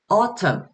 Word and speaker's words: autumn: 그리고 또 autumn. 여기서도 철자상으로는 MN으로 끝나지만 발음 기호상에서는 소리가 없어요. 결국은 이 이라는 요 철자는 silent letter.